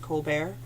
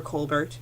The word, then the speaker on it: Colbert: It's 500 Years of First-Hand History, edited by David Colbert, or Colbert, depending on how you say it.